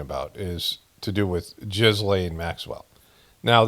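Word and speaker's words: Ghislaine: is to do with jizzlain Maxwell now they they say it's galain And it's spelled G I I J H I S lane. So the lane is clear. You know the the L A I N E is clear.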